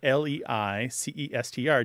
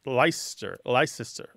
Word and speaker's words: Leicester: So a word that's spelled L-E-I-C-E-S-T-E-R did used to be pronounced something more like Leicester. Leicester. Yeah. But there were three syllables, and now it tends to be two, okay?